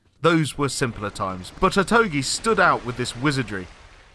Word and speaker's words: Otogi: And that is Otogi. That is how you pronounce it, isn't it? We checked. Otogi. Otogi. Otogi. Otogi. O-to-gi as in geese.